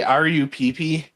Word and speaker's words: Rupp: Did you just say R-U-P-P? That's what I said. That's literally how her last name is spelled. R-U-P-P? Yeah, it's Rupp.